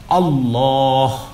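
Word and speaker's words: الله: আল্লাহ। মুখটাকে গোল করবেন আল্লাহ, কখনো আর আল্লাহ বলবেন না।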